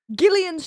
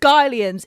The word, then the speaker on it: Gillian's: Gillian's chocolates. I got gas lit. Gas llit by people saying it's Gians. It's Gians. I looked it up. It's Gillians.